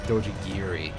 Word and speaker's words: Dojigiri: I believe that is supposed to be pronounced, that is supposed to be spelled Dojigiri, not...